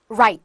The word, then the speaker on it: write: 여러분, 자, 묵음의 한 표본이네요. W 발음이 안 나요. write 무슨 뜻이죠?